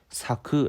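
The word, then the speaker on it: 咲く: 그러니까 , ' 웃음 ' 을 뜻 하는 한자 이지만 , 실제로 는 ' 사쿠 ' 라고 읽으며 ' 피다 ' 라는 뜻 입니다 .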